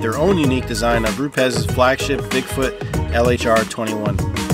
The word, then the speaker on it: Rupes: day one began with rupez history and industry leadership the first question dylan asked everyone is how to pronounce rupes given some people's propensity to pronounce it roops or rupees but actually learning where